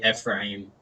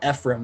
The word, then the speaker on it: Ephraim: actually think it is i think it's like i used to say frame i would yeah me too it's a different syllable yeah but but then like i kind of like people were like people have been like saying it out loud and it's like ephraim and i'm like right that makes a lot more sense now i guess but